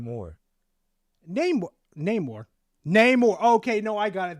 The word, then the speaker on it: Namor: Namor. Okay, no, I got it. Thank you. That's how you pronounce his name. Okay, Namor.